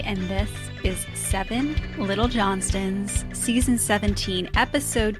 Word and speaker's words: Johnston: We have to give a shout out to the Trent Johnson because Johnston, I'm sorry, Johnston with a T.